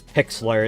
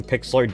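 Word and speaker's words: Pixlr: a cheap thing to use, then use Pixler. It's spelled P I X LR. That's what I use for all my thumbnails, and it's pretty good for free. I got premium on Pixelor discounted a long time ago cuz it was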